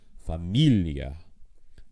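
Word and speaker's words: Familie: all goes to E you'll also notice that with the ones where it is unaccented and make sort of an e plus a schah at the end that it is in every case the there's a strong syllable before that and the IE would be unaccented so rather than Galler d fantasi you would have Familia l liia so how do you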